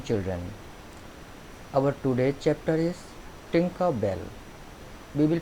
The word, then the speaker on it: Tinker Bell: Our today's chapter is Tinker Bell. We will pronounce it as Tinker Bell.